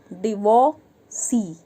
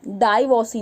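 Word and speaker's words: divorcee: Pronunciation क्या होता है, डिवोर्सी। वो बा में ओ की मात्रा गोल गोल जो होता है ना वो लगता है, डिवोर्सी, डाइवोर्सी नहीं होता, ठीक है। डिवोर्सी, और आर साइलेंट होता है, डिवोर्सी, गॉट इट।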